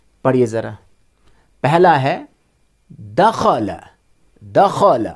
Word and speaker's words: دخل: دخل، خا کو موٹا پڑھیں گے، دال اور لام کو سمپل پڑھیں گے.